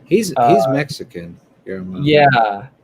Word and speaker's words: Guillermo: How do you say it? It's Guillermo. There might be Guillermo. an R roll in there, but I don't know for certain. But It's got L's in there, and it's just like right, it's you look at it and it's like you it's a tough name to pronounce. it is one that you have to kind of Guillermo.